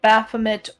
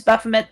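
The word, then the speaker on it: Baphomet: is um um bosmat baffet um which he said he said it wrong but it's buffam the prince of beasts um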